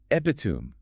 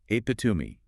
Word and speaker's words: epitome: see that and think epitum. A very common mistake. But if you've listened to it while reading it, you know instantly that the e on the end isn't silent and it's pronounced apatumi.